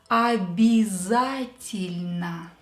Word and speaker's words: обязательно: Я is not stressed. And ye is not stressed. So we will change them. O will become A. Я will become И, and Е will become И. Обязательно. Обязательно. So make sure you pronounce it right.